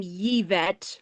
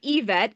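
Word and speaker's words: Yvette: Well, I've never heard the name Yevet or Yevet in my life. It's I've always heard EVET and it's spelled Y V T.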